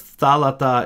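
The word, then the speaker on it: θάλαττα: So because thalata is the first form, we know that this word wants to be accented on the antepenultima.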